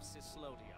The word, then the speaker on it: Cyslodia: Attention, citizens, subjects, and slaves of Cyslodia. That's how you pronounce it.